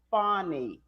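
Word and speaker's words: Fani: actually posted this today it's pronounced funny yes yes attorney Willis okay yeah one one more of them says Fanny one more time I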